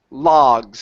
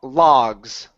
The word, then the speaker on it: logs: this word here is pronounced logs instead of low looks open up your mouth ah logs logs ok very nice so